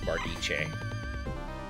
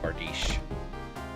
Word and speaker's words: bardiche: Just make sure that when you go to bearded halflings uh channel that you tell him it's pronounced bardiche and not bardish.